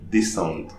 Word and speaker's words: descendent: So ENT at the end you should not pronounce E, but since it's a mute E, so we are not pronouncing, but instead we pronounce the D.